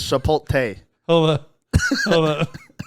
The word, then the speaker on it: Chipotle: what do you say I think it's Chipotle I don't think it's shapot hold up hold up